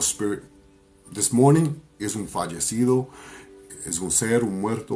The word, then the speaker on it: fallecido: Fallecido. Fallecido means deceased loved ones. Fallecido. Fallecido, which is spelled F-A-L-L-E-C-I-D-O.